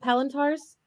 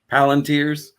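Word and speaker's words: palantír: Palantars? Palantirs. Well, Palantirs?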